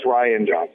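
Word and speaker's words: Rian Johnson: No, it's Ryan Johnson.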